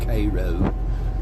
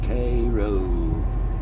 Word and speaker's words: Cairo: And we brought up Cairo, Georgia, but apparently that's not how you say it, guys. How Okay, Jared, that's not Cairo in Georgia. It is Cairo. Cro. Cro.